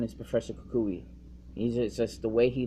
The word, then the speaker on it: Kukui: So now I know when I play the game or I watch the anime that his name is Professor Kukui. So that's, that helps me understand how to pronounce his name.